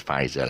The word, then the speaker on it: Pfizer: not perfect is it the p silent so uh it's a pronounces but i know it's pronounced as faizal i just say f